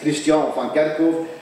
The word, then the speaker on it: Christian van Kerkhoff: But if you say it like that, you might think I'm a Christian, but normally you should read it in French. Then it's Christian van Kerkhoff, and my family name van Kerkhoff means church garden.